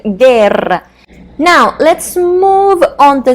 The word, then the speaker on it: guerra: Letter G can be also followed by a U and I, like in the word guitarra, or U and E, like in the word guerra.